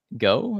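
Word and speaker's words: Gough: in order I guess I had uh Denise go is that how he pronounce it yeah who plays Deidra um Deidre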